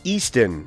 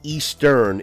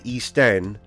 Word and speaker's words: Eastenn: Eastenn. It's not Eastern, it's Eastenn, which stands for the Eastern Tennessee. The origination of where RCB practices is Maryville, Tennessee. So the pronunciation is Eastenn, T-E-N-N.